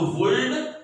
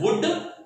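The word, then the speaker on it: would: थोड़ी गड़बड़ी इनके प्रोनाउंसिएशन में होती है, वुड, शुड और कुड में, इसमें एल साइलेंट है, तो वुल्ड, शुल्ड और कुल्ड नहीं करेंगे, that is वुड, शुड एंड कुड।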